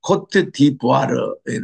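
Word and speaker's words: Côte d'Ivoire: 자, 오늘은 우리 코트 디부아르의 나라인데, 제가 이렇게 아프리카 나라에 가본 나라 중심으로 다니기 때문에, 이것이 예전에는 우리가 아이보리 코스트라고 그랬어요.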